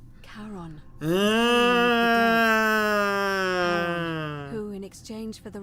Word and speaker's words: Charon: Only your pronunciation is a little off. The name you heard wasn't Karen. It was C-H. Харон. Карен Харон. Charon.